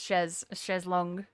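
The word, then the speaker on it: chaise longue: It's pronounced chezlong cheese.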